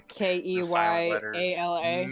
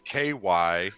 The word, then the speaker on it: Kiala: Yeah, and I'm sure it's Keyala. No, it's Kyala.